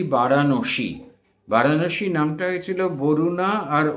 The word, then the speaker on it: বারাণসী: আজকে থেকে আমরা বলি বারাণসী।